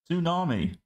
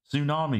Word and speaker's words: tsunami: Tsunami. Tsunami, because you don't pronounce the T.